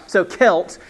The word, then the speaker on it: Celts: would y'all pronounce that emma how would you pronounce that you're very you're a very wise one like cook okay all right so celts but it's funny then we say the celtics